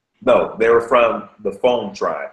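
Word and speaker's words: Fon: Israelite or Jewish no they were from the phone tribe f n the phone phone okay so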